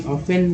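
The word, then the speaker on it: often: फेन, देखिए T actually ऑफेन जो है यहाँ, ऑफेन में जो टी है वो टी हमारा साइलेंट लेटर यहाँ पर है।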